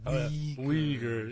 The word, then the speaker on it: Uyghur: Uyghur. Yeah. I gotta really emphasize on the we. Yeah, you want to. Yeah. Maybe you want to put a soft A on it just to be, careful these days.